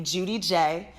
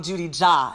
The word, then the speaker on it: Judi J: And like I said, I knew I wanted my name to be Judi J, which is how it's pronounced. In the past when I used to do hella party events, a lot of the party promoters used to call me Judi Ja.